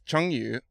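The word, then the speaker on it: 成语: Now, the first thing is, Isaiah, is we should probably get you to pronounce firstly the word chengyu, which I butchered. Yes. So, it's chengyu, which is...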